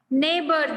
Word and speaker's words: neighbor: Neighbor, GH is silent.